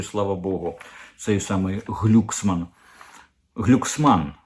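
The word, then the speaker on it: Glucksmann: він проукраїнський Слава Богу цей самий глюксман глюксман вірніше Він же ж балотувався у Франції він французький політик а там наголос завжди на останній склад оцей от самий глюксман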